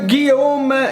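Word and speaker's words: Gyome: creatures in this deck meet the guillaume yes you have to use a french pronunciation for this one this troll master chef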